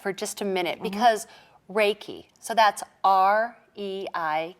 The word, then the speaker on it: Reiki: just a minute because Reiki so that's our II I ki what right it sounds like a foreign word okay well Reiki is a word japanese word and rea our AI is pronounced ray and it is spiritual